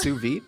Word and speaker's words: sous vide: scott knows what a sous vide is uh definitely not i think i think it's pronounced su vidae sous vide oh it's pronounced suvi we'll see now i